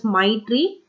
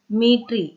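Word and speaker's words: Maitree: It's not pronounced as Maitri. Metri.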